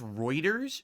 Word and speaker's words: Reuters: Notably, they also own a large amount of, it's pronounced Reuters.